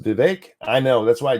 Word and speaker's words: Vivek: chatting with you guys I really do it's pronounced Vivek I know that's why I tend to say